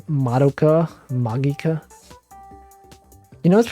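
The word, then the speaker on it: Magica: go into this it's like it's like madoka magika you know what's pronounced magika people people say some people pronounce it magicka but no it's actually magika so that's how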